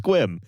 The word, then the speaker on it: Sequim: of the fact that the town that we're talking about today is pronounced Squim.